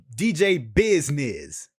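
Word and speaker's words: DJ Bizznizz: remix of a song of jump around by dj business right there's a remix to the song right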